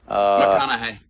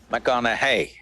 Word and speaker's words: McConaughey: McConaughey. McConaughey. Rhymes with what would Madonna say?